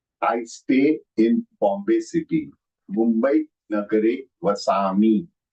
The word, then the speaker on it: Mumbai: Here, the Anuswar on Mumbai is on the first alphabet. Following that, there is B. And B falls under which category? B falls under power. Power. So power has the Anunasika as half M.